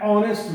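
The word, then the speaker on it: honest: है कि H silent, तो जब एच साइलेंट हो जाता है तो देखिए उस परिस्थिति में ए नहीं लगकर एन लगता है। जैसे एन आओ, N here, N हेयरनेस, an honour, an ऑनेस्ट मैन, N honourable man.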